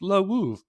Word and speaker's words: Lwów: my father's from there, it's pronounced Lwów.